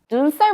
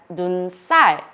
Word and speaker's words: 눈살: 눈살 refers to wrinkles between your eyebrows, and we pronounce it as 눈살, not 눈살.